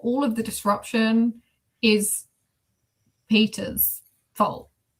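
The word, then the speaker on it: Petyr: Yeah, but the narrator pronounced Peter Baelish's name as Pattaya, and I don't care if that is like biblically accurate to what George Martin intended. I can't. I'm sorry, it's Peter. It's Peter.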